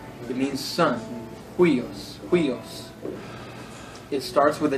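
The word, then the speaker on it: υἱός: The rough breathing mark is pronounced like the English H. It is pronounced like an H. Ha. Let me give you an example. The word, a famous one is the word huios.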